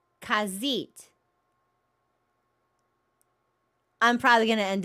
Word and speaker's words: Khajiit: It's like the cats are pronounced Khajiit.